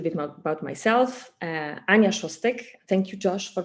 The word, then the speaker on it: Szostek: start a little bit more about myself Anya shostek thank you Josh for pronouncing my last name correctly it's not an